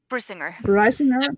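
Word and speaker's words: Brisingr: Brisinger.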